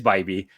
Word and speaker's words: Bibee: I know it's not correct, and call him Bibee instead of Bibee? No, you were right. No, it's the other way around. Yeah, it is Bibee.